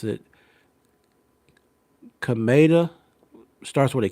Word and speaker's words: Kameda: Uh but the opponent that he fought last of this year, his last name is, I believe you pronounce it Kameda.